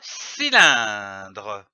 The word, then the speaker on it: cylindre: Je lis une syllabe avec la lettre Y prononcée I, lorsque l'Y est précédé d'une consonne.